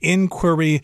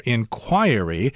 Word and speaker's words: inquiry: You can pronounce that word either way, inquiry or inquiry, which means you're asking into something.